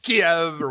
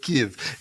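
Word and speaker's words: Kyiv: right now and yes am I pronouncing Kei right because I hear American broadcasters all the time saying it Kev yeah it's ke okay because we have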